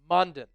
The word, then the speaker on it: Mondon: And then Smile Mondon rhymes with London.